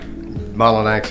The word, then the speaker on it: Mullenix: I did pronounce that right. Mullenix, that's correct.